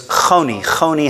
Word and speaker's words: Honi: the way that they pronounce a ch, the way that they spell it in English is an H with a little dot under it.